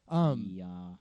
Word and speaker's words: Okja: Okja.